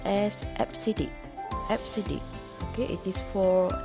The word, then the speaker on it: EBCDIC: four american standard code for information interchange second pronounced as absidic fcd okay it is for extended binary coded